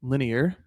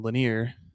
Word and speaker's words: linear: and it's not perfectly linear. I hope I pronounced that correctly. I've I've taken a lot of heat for saying linear when in fact it is linear three syllables.